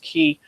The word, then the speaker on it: chi: called what's called a key ASM and it's made up it's a patterned after the Greek letter key or Chi is pron Chi is how it's typically spelled pronounced key um that's the letter